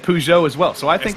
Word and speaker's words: Peugeot: Peugeot. Peugeot. I was on the drive home from Pittsburgh the other day. We were listening to Car Talk in the car, and both of those guys said Peugeot as well.